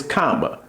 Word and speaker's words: cama: So bed in Spanish is comma bed comma. So just think of it like this. Think of your bed as a giant comma like an apostrophe, a comma. Okay. So bed comma bed, you curling up on that comma.